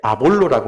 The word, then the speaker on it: 아볼로: 근데 사역을 하다 보니까 성경을 매우 잘 아는 아주 뛰어난 인물 한 분을 만나게 되는데 아볼로라고 하는 분이에요. 이제 우리 이렇게 영어 영문식 발음으로 하면 아폴로입니다.